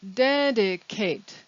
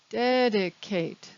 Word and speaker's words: dedicate: in the question is dedicate dedicate because this is a verb the ending ate is pronounced eight also in the question